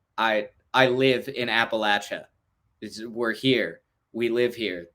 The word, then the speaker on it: Appalachia: West Virginia from North Carolina from whatever it's Appalachia and they're like I I live in Appalachia we're here we live here this is this